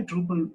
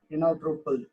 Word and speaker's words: Drupal: It's a Dutch word. Drupal. It's mean that how it's spelled. Truppel.